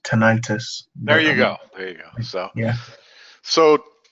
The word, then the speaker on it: tinnitus: you should I religiously and regularly pronounce tinnitus wrong apparently it's pronounced tinnitus there you go yeah